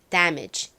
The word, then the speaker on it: damage: 따라해 볼게요 damage dage 좋습니다이 단어를 한국식으로는대 요렇게 안 쓰고음 데미지라고 좀 많이 쓰는 경향이 있더라고요 하지만 여기 a 발음은 a 이렇게 발음해 주셔야 됩니다 damage 이렇게요이 단어의 의미는 손상 피해